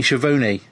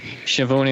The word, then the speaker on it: Schiavone: I think I'm sure it's Bobo or Gordo, but they say Tony Schiavone like it rhymes. That's probably Gordo. Yeah. Schiavone Mahoney.